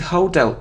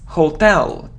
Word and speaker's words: hotel: even in songs but it isn't hotel its hotel so the stress is on the second syllable hotel it isn't him